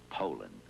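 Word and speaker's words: Poulan: for over 30 years they've been mispronouncing our name hope so we'd like to remind you that our name is poland and for a tough dependable chainsaw poland is the only name you need to remember no matter how you pronounce it poland the goodyear tiempo is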